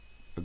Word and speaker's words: a: vous l'ai dit oralement en anglais il n'existe qu'un seul article définit le a qui se prononce e voilà et qui veut